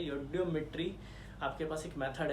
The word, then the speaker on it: eudiometry: देसी अंग्रेज है इसलिए बोल देते हैं ई, हम लोग पहले लेके चलते हैं, जबकि यहाँ साइलेंट है। योडियोमेट्री आपके पास एक मेथड